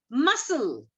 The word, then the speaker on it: muscle: So here also C is silent. Muscle.